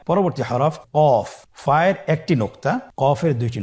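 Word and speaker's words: قاف: কফের মাখরাজ হলো জিহ্বার গোড়া তার বরাবর উপরে তালুর সঙ্গে লাগিয়ে উচ্চারিত হয়। জিহ্বার গোড়া তার বরাবর উপরে তালুর সঙ্গে লাগিয়ে উচ্চারিত হয়। আপনারা উচ্চারণ করুন কফ। আবার বলুন কফ।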